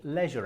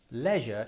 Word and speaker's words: leisure: The problem is we can't go anywhere, and so we can't do many leisure activities. Leisure is the British pronunciation, but how do the Americans say leisure?